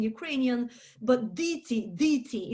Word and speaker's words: діти: And in Ukrainian, we pronounce the E, diti. In Russian, it would be deti.